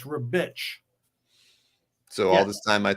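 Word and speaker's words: Ribić: don't believe it yeah a c in in his language and italian is ch so it's rebitch so all this time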